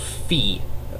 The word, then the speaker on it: Fe: and the game is called fee which is spelled fe um the game is